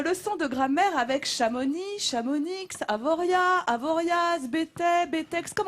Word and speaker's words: Chamonix: de grammaire avec chamonix chamounix avoriaz avoriaz btb textes comme on dit c'est choquant c'est le biscuit s'échappe onyx on prononce pas la dernière moi j'avoue on ne prononce pas la dernière lettre pourquoi parce qu'en fait